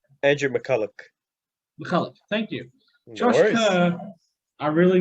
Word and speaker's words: Andrew McCullough: dragons we have francis molo andrew mccullough mccullen mccullough andrew mcculloch mcculloch thank you joshua i really need to start